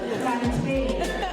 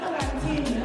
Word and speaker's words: plantain: PLAN-TAIN! Not "plantin" or something else.